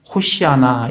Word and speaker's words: 호산나: 가장 높은 곳에서 호산나 하더라 라고 예수님을 대대적으로 환영하는 것을 우리가 볼 수가 있습니다. 이 호산나라는 이 단어는 이 헬라식 발음입니다. 이게 히브리식으로 발음을 하면 호시아나 이렇게 됩니다.